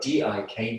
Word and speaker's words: dik: So this is in the Sanskrit tradition, this is often called, it's spelled D-I-K, dik, space.